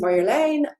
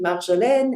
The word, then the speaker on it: Marjolein: case you don't know me, my name is Marjolein. I am Dutch, hence the kind of that weird name if you're not Dutch. You can also pronounce it Marjolaine in French or Marjolaine in English, but also.